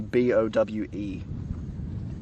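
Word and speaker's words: Bowe: I spell my name B-O-W-E. B-O-W-E. Bow. Yeah. Oh, bow. Bo. It's still Bo. It's just pronounced funny.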